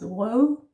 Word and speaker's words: rød: We have the slashed O or the broken O, ø, yeah, and it becomes rød. That's also the soft E. It's more like an sound, rød, yeah, and then bede.